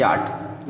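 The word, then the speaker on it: yacht: इसको भी जान लीजिए कि याट, याट में सी एच साइलेंट है, इसमें सी एच साइलेंट है, तो इतना जान लीजिए।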